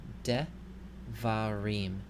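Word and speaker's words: דְּבָרִים: In the first one, you see the schwa, which is under the first consonant, the dalet. So that means this schwa will be pronounced. So we can pronounce this word devarim. Devarim.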